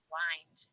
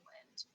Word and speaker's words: wind: pronounce the word wind it can mean to turn or wrap something around wind then its sign rhymes with find it can also mean moving air then it rhymes with pinned in wind decide how to pronounce